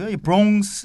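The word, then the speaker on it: Bronx: 좀 알려주세요 4 2 한국 발음으로 내가 부러움 크 스 라고 하는데 나 역시 그 아무런 싸니까 부엉 습니다 빨아서 어느 이크 라는 발음이 거의 안들리고 2봉 스 라고 발음을 하고요 뉴욕시에 5개 자치구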